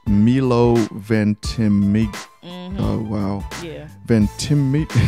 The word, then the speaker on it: Ventimiglia: I can't pronounce people's names. It's Milo Ventimiglia.